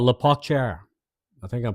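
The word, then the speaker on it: La Pocatière: Uh we get we get to a place called La Pacher. I think I'm pronouncing it right.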